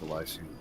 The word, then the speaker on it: Elysium: Pronounced Elysium.